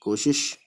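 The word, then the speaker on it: کوشش: काफ वाव पेश को, शीन जेर शी और फिर शीन शिश, कोशिश।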